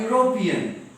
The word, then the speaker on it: European: A European. Though the letter is E here, the sound is not that of E. E, U together make Y sound.